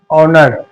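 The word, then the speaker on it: honor: के बाद ये देखो एच के बाद अगर ओ आया तो ओ हमारा एच जो है वो साइलेंट रहेगा जैसे और होनेस्ट ऑनर इस तरीके से अब इसको हॉर्स नहीं पढ़ेंगे इसको होनेस्ट नहीं पढ़ेंगे इसको हॉर्नर नहीं पढ़ेंगे क्या पढ़ेंगे हॉर्स ऑनेस्ट ऑनर इस तरीके से अब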